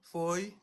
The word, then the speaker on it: Foy: Si tu viens, Faye, Foy, comment ça se prononce? C'est. Salut. C'est, salut. C'est. Feu avec Y.